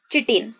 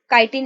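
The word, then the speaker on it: chitin: There cell wall is made up of tough and complex sugar called चिटिन। Okay, सो ये कवकों की आप उसको काइटिन बोल सकते हैं, काइटिन इसका प्रोनाउंसिएशन है, ठीक है।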